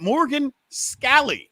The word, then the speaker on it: Morgan Scalley: so we got word yesterday came out that Morgan scall and that is the proper pronunciation is the coach in Waiting in Utah